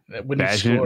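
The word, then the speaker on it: Bagent: Is it Badgent or Badge? I'm going to give it a soft Badgent. Bagant. It's like Bilbo. It's like a Bilbo Baggins situation. Yeah. Tyson Baggin. All right. Badgent rhymes with pageant.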